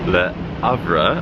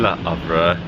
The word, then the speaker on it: Le Havre: the UK across to Le Havre. I hope I'm pronouncing that correctly. I believe that the H is silent.